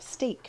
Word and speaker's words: steak: would like to have steak for supper steak this one rhymes with break and in this case